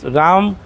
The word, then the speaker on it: Raum: আছে আচ্ছা কেউ বলে রাম কেউ বলে রম আসলে কি হবে রম রম হবে মেবি এটা আসলে কি এখন ইউ উচ্চারণ মানে এর মত হয় সো রমও বলতে পারেন রমও বলতে পারেন রমই হবে আচ্ছা রম বললাম যেহেতু